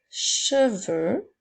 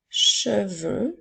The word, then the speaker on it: cheveux: avec des cheveux des cheveux n'oublie pas la lettre la lettre muette du pluriel je continue maintenant avec